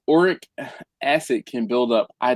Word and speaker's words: uric: I think it's uric acid.